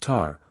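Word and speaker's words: Tae: the tribe the child whose name was Tay pronounced tar was the Magistrate's eldest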